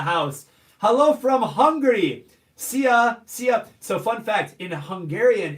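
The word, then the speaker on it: szia: Sia, sia.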